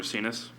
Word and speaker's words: Racinas: Yeah, her last name is actually Racinas. Oh, well, it's missing the S.